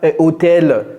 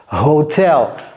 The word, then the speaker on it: hotel: En anglais, c'est pas hôtel. Non, c'est hotel. Hotel.